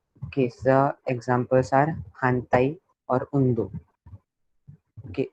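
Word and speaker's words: 反対: मतलब T series, D series, R series, N series, इसके या इसके बाद आया, मतलब न के बाद अगर इस चारों सीरीज में से कौन सा भी वर्ड रहेगा तो फिर मोरा को हम न प्रोनाउंस करेंगे.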